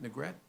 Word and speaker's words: Negret: speaker is negret is it negret I pronouncing that correctly nret yes uh good afternoon my